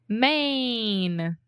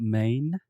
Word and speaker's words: Maine: it yeah I mean it's the same way that we say main right just like Main Street or the main point of a topic or something yeah yeah